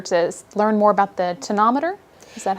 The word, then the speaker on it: tonometer: Okay, and I think today we're here in particular to learn more about the tonometer.